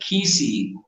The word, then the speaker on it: Kisii: In fact, the probably the number one state in the United States that Kisii, that's how you pronounce it, Kisii people go to Minnesota, is